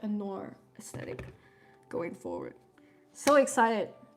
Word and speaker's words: noir: Is it not Nor? Always be saying words weird. How do you guys say Nor? Am I saying it wrong? Okay. Noir.